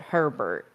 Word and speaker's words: Herbert: You know what is interesting is that his name is Herbert, and we very much pronounce it Herbert.